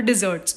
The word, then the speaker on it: desserts: गया, हलवा होगा, उसको डिज़र्ट्स बोलते हैं. यहाँ पे आपको ध्यान रखना है कि प्रोनाउंसिएशन में ध्यान रखना है, क्योंकि डेजर्ट और डिज़र्ट्स 2 अलग चीज़ होती है. डिज़र्ट्स में डबल एस आता है.